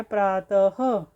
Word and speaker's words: प्रातः: करते हैं तो हम विसर्ग का प्रयोग करते हैं जैसे कि अतः अब अतः ह की ध्वनि आपके मु से निकल रही है प्रातः तो प्रातः तो ह की ध्वनि है मतलब विसर्ग का उच्चारण हम ह के समान होता है मतलब जब हम विसर्ग का उच्चारण करेंगे तो ह की ध्वनि आएगी उसमें आज हमने इन वीडियो